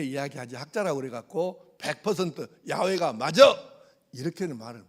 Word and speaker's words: 야훼: 그런데 나중에 이제 종교개혁 이후로 인쇄술이 발명된 후로 학자들이 더 연구를 많이 해봤더니 여호와라는 말은 발음이 안 맞아요. 야훼가 더 맞가.